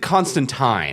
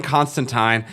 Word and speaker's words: Constantine: I believe they did Constantine. They did do Tyne. Yeah, they did do Tyne. Because, I mean, this is a British show, so the British say it as Tyne. Yeah. So they're doing Constantine.